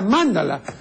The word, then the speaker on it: mándala: la otra pero eh Es preferible la la primera o sea Mándala porque es la pronunciación etimológica no y Mándala significa